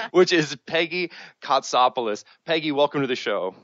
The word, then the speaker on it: Kotsopoulos: awesome name which I hope to God I pronounced correctly which is Peggy copoulos Peggy welcome to the show thank you and